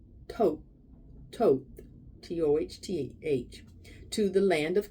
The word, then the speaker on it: Thoth: As was said earlier during the exodus from Atlantis, many of us followed Thoth, pronounced Thoth, T-O-H-T-H, to the land of Kim, now called Egypt.